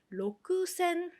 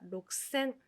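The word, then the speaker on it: ろくせん: 6천은 로크센 맞습니다. 자, 로크센. 근데 발음을요. 크가 약간 약하게 들어갑니다. 그래서 록센, 록센이라고 발음을 해줍니다.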